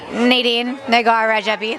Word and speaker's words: Nadine Rajabi: How do you say your name in Farsi? Nadine Rajabi.